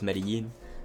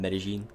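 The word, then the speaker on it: Medellín: Caribbean Spanish teachers, so for me it's always Medellin rather than Medellin. But again, all up to interpretation and how you pronounce it. There's no real wrong way to say it besides saying Medellin. That is wrong. Do not say that.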